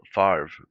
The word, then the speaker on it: Favre: no it's just spell farv because like how um how his name is spelt it looks like favre but you pronounce it far and they they spelled